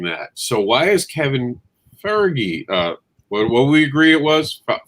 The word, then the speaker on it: Feige: trying to avoid kevin how do you say his last name fergie that's how they've told me every time i've heard anyone say it's fergie kevin fergie okay because i don't see an r in there trying to